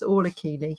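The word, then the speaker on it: Orla Kiely: Yes, it's Orla Keeley, or Orla Kylie, I think is pronounced.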